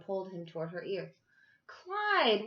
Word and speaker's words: Clyde: him toward her ear Clyde what a nice name it rhymes with slide and that's what you